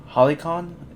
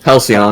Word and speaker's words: Halcyon: So we know this guy from season 3, Koss, and Halicon. Is that how you pronounce it? Halcyon. Hallucinogen. Halcyon.